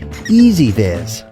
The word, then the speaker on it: EZVIZ: It's pronounced EZVIZ.